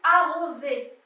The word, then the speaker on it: arroser: Une petite remarque, là nous avons le S, mais j'ai dit Z, on a entendu, pour arroser.